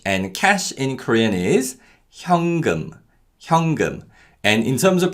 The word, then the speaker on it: 현금: cash in Korean is 현금, 현금. And in terms of pronunciation, because of nasalization, the 니은 받침 in 현 is pronounced as an 이응 sound. So it's not 현금, but it's 현금, 현금.